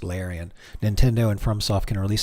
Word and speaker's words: Larian: That's pronounced Larian.